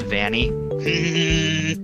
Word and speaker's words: Vanny: Adam, sir, it's pronounced Vanny.